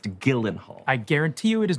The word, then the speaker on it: Gyllenhaal: No, Gyllenhaal. Your name is pronounced Gyllenhaal.